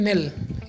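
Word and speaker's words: knell: नेल। इसमें के silent है दोस्तों।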